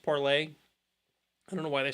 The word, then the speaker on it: Parler: I said it was originally supposed to be pronounced parlay I don't know why they spelled it the